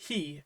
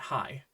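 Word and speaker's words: ヘ: If that helps you remember, that's great, as long as you remember that it's pronounced he and not hi.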